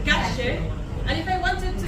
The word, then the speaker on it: calle: What we like to do is the Y and the double L sound. We pronounce it like a shit. So if I wanted to say chicken, I would say pollo. If I wanted to say street, I would say calle.